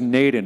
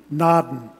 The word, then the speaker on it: Naden: It's Naden, Naden. Well, the Norwegian pronunciation would be Naden.